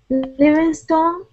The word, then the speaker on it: Livingstone: Livingstone um you know probably we would say Livingston because when people have stone and stun and bit words like long words like this usually the ending is just dropped a little bit like a Livingston John Livingston um okay